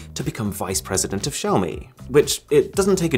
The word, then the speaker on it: Xiaomi: So the way he described it to people was, if you want to say Xiaomi, then try and say show me, but say the show as if it was part of the word shower.